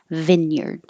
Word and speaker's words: vineyard: it sounds like Vineyard Vineyard and using the vowel e as in hit Vineyard spars this last s